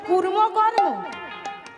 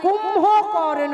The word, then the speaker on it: কুম্ভকর্ণ: কোথায় মহাভারতে কুর্ম কর্ম? এ কোন স্কুলে পড়েছিল গো? হ্যাঁ, মহাভারতে কুর্ম কর্ম আছে? প্রথমত নামটা উচ্চারণটাই তো ভুল, কুর্ম কর্ম নয়, কুম্ভকর্ণ।